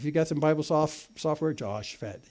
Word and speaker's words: Jehoshaphat: If you've got some Bible software, Jehoshaphat. It's just like it's spelled.